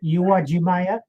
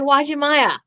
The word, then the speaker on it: Uwajimaya: correctly it's a correct you are jimaya you are real okay so the u is uh pronounced all this time someone